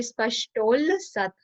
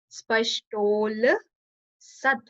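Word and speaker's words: स्पष्टोल्लसत्: Spashtol Sat, when you'll join together, so it would be Spashtol Sat. U will convert into O. So it's Spashtol Sat.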